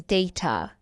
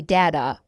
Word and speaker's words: data: Word number nine is data. data. Some American people say data.